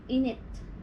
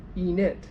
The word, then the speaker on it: init: Init. Init. Yeah. But there's two I's. Yeah. E and then nit. Yeah. So I can also be it, like it. And yeah. e, Same. Init.